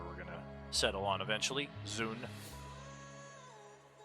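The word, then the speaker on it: Dxun: so whatever that is i've always thought of it as zon the d is silent that could very much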